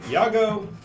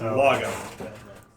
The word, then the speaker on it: Lago: Some people pronounce it Yago. He prefers Lago.